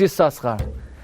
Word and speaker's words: Yissaschar: time you read it the way Yakov called him which is yusaskara but says at the